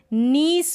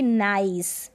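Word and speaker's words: niece: में है क्या है नीस पढ़ेंगे इसको नीस ना कि नाइस ठीक है नाइस की स्पेलिंग दूसरी हो जाती है वहां पर आई नहीं यह जो ई है वह नहीं आता आई तक ही आता है ई नहीं आता तब हम उसको नाइस पढ़ते हैं और इसको हम पढ़ेंगे नीस नीस का मतलब भतीजी नीस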